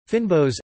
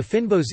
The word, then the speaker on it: fynbos: Fynbos, Afrikaans pronunciation, phi, nbos, meaning fine-leaved plants, is a